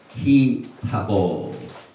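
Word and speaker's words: כי תבוא: 오늘 토라 포션 50번째 말씀의 제목은 키타보 이렇게 발음을 하는데, 여기 이제 원 히브리 성경을 보면은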